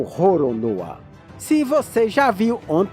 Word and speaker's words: Roronoa: Olané no Japão é pronunciado como Roronoa.